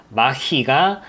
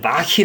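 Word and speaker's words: Mach-E: 포드가 나옵니다 포드 머스탱 마 희가 뒤를 따라오고 있습니다 이걸 발음을 마키 라고 하던데 참 발음이 좀 어려운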